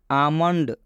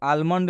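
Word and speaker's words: almond: एम आया है और जब भी ल के बाद एम आएगा तो इस ल का उच्चारण नहीं करना है ल साइलेंट हो जाएगा तो इसका उच्चारण क्या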